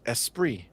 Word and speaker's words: esprit: Esprit is pronounced Esprit. That's just confusing. You know what I'm saying? French. Like, just fucking remove all those letters. Okay? Come on. We don't need a T in there if it's not being noticed.